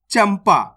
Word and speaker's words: चंपा: जैसे यहां पे देखो चंदा इसको अपन ने कैसे पढ़ा चंदा इस शब्द के अंदर आधा ना का उच्चारण हुआ है क्लियर है अब इस शब्द को देखो चंपा इसके अंदर आधा मा